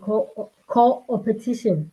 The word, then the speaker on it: co-opetition: with expertise in sustainable leadership, strategic collaboration, and co-opetition.